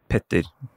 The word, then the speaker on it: Petter: My name is Petter in Norwegian. Peter translated.